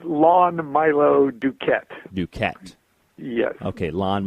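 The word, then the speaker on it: Lon Milo DuQuette: right well I like to hear it said lawn Milo Duquette you can't yeah okay lawn Milo dude Clarence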